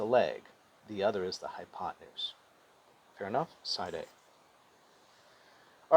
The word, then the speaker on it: hypotenuse: hype now and again we spell it hypo 10 use but we pronounce it hypotenuse all right given the